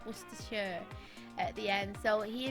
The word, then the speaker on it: Worcestershire: She was saying about pronouncing Worcestershire, and I know that a lot of American people pronounce it Worcestershire when it's Worcestershire at the end.